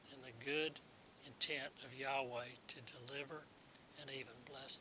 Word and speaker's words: Yahweh: Deliverance and blessing come only from Yahweh. There's that pesky spelling again, spelled like our English designate for Jehovah, but the Hebrew says Yahweh.